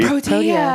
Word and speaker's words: Protea: Just all you do is you spell it just like Pro and T. Pro and T. People are going to wonder, what's this Pro T you're talking about, Rob? Pro-T. Well, it's not Pro T.